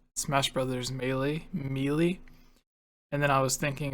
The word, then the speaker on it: Melee: Also, I was laughing not at the theory, but I was thinking about how Daniel called Smash Brothers Melee, and then I was thinking of like Waluigi.